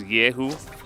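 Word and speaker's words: Kyeahoo: The K in his name is silent. His real name is Yehu. His last name is Kang, which is where the K comes from. We ignore the K and pretend like it's not there, which is very difficult for play-by-plays.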